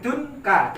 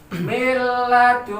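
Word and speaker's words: مِن لَّدُنكَ: Ini bacaan harus didengungkan, tidak boleh tunka, tidak boleh. Harus dibaca miladunka.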